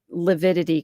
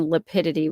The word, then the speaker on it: lividity: day to the evidence to pronounce lividity correctly instead of saying lipid which isn't even a word you know it's just